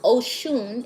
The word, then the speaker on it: Oshun: Oshun, pronounced Oshun, is the mother of the Nigerian Yoruba people, and her name means the source.